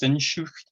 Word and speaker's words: Sehnsucht: This one's going to be really hard to pronounce, but I think it's Sehnsucht, another German word for the inconsolable longing for something we don't even know what it is.